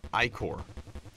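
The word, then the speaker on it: ichor: I can fill it with magical acre that's pronounced icor iore choose your iore wisely refills all health and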